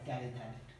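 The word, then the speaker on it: terephthalate: This PET is poly ethylene टेरिथैलेट। Spelling पे नहीं जाना, स्पेलिंग ऐसा ही है, PHTHALATE, टेरिथैलेट।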